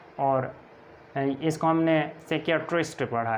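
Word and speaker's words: psychiatrist: अब देखें इसको हमने नेमोनिया पढ़ा और इसको कोप नहीं पढ़ना, को पी साइलेंट है। और इसको हमने साइकियाट्रिस्ट पढ़ा है, इसको हमने स्कालोजी पढ़ा है, इसी तरह इसको हमने साइकोथेरेपी पढ़ा है और इसको हमने रास्पबेरी पढ़ा है।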